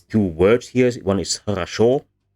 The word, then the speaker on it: хорошо: One is хорошо. It is pronounced the same as the lower one with A, but it is written with O, because historically it was хорошо.